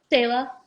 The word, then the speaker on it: Selah: Selah.